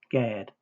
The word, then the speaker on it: Gad: H1410 Gimmel Darot pronounced with the vow A as in father equals Gad, a Hebrew proper noun.